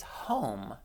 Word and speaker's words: home: This E makes the O make the long O sound. We talked about that a few months ago. So our word of the day is home.